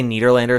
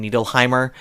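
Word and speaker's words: Nederlander: She's unable to say Netherlander, so she calls him Neleheimr and then she re and she realizes what she's done and she goes, "Oh, Jimmy, I'm sorry."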